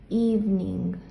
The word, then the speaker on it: evening: This E is silent. Esta E es muda. No se pronuncia. Solamente evening.